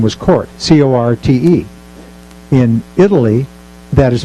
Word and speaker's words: Corte: The character's name was Corte, C-O-R-T-E. In Italy, that is pronounced Corte. That's just the Italian pronunciation.